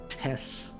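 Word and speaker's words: T35T: is named test or well it's the it's test t35 T but it's pronounced Tess like T SS um that he's going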